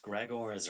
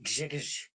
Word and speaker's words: Grzegorz: I wanted to say to you, you were asking there as how to pronounce Gregors, right?